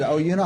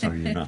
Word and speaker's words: Oyuna: I learned how to say it, Oyuna Hospice. Oyuna.